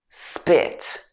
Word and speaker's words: spit: So you will hear actually it doesn't sound like a full p sound, it sounds more like a b sound. It sounds more like spit. Almost like I'm saying a B sound, but it's not like a full B sound. It's sp, sp, sp, sp, spit, spit, like that.